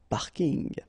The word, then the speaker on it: parking: from English but still you should pronounce it the French way parking the parking okay and